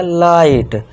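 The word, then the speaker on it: light: अब जी एच को साइलेंट कर दिया। बस टी के लिए ट लिख दिया। तो ये क्या हो गया? लाइट।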